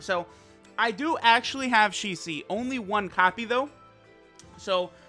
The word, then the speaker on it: Shisui: And it does seem to me like what they say is she, as in like girl, like her, she, and then just literally C, the letter C. So it looks like it's Shi-C.